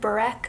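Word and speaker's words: börek: have that we had boric for dinner which is I'm probably pronouncing it wrong I think it's more like Burak but it is a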